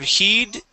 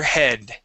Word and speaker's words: head: um shook her head instead of heed this is shook her head shook her head all